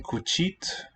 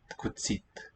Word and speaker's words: cuțit: And cuțit. Any guesses? Any feeling on it? Cuțit. Okay, so it's basically ță, the accented T, but the I there in a weak syllable will palatalize. Cuțit.